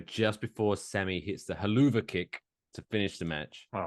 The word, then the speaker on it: Helluva: When I heard Michael Cole call it the haluva kick, is it just supposed to be the hell of a kick, but they're pronouncing it differently, like you would call Target Target?